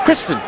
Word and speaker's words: Christine: But we do not pronounce the long eye. So it's Kristen.